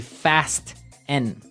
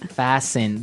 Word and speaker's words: fasten: So, it would be fast n. No. No. Right. Fasten. Fasen. The t kind of becomes silent.